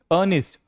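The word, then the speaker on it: earnest: है ए और आर ए क्या हो जाएगा साइलेंट अनिस्ट अनिस्ट का मतलब होता है गंभीर देखिए एग्जांपल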